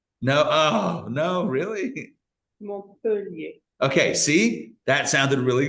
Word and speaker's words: Montpellier: and you're like, I don't know how to pronounce this. Like, I don't know this author's name or this Montpellier. Did I get that right? No. Oh, no, really? Montpellier.